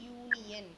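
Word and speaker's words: union: யூனியன் அப்படின்னு எழுதி இருக்கோம் ஏன்னா அந்த யூனியன் அப்படிங்கும் போது அந்த யூ அந்த சவுண்ட் வருது இல்லையா யூ அப்ப யா யா வோட சவுண்டு வருது இந்த யா வை சவுண்டு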